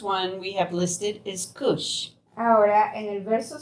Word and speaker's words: Cush: And Cush has also been spelled as Kish. It's spelled and pronounced in a different manner.